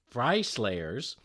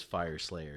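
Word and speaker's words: Fireslayers: We got Games Workshop, it's Shop, GameWorks Shop, previews new runes for Fry Slayers. So check that out with Games Fire. That's right, it is Fire Slayers.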